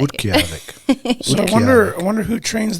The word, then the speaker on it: Utqiagvik: I know it's a little bit difficult, but it's like Utqiagvik is kind of how most people who don't usually say it pronounce it. I mean, but I like to teach people it. Utqiagvik, that's how you say it.